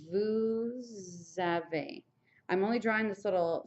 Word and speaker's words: vous avez: going to have to do the liaison again. So it's vous avez.